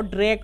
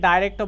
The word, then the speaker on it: direct: বেশ, বস্তুবাচক কর্মকে আমরা বলবো ডিরেক্ট অবজেক্ট। কি বলবো? ডিরেক্ট object. ডিরেক্ট object. Direct object. ডিরেক্ট object. আচ্ছা, এটাকে ডাইরেক্টও বলা হয়, ডাইরেক্ট অবজেক্টও বলে অনেকে, ইন্ডিয়ানরা প্রোনাউন্স করে এটাকে ডাইরেক্ট।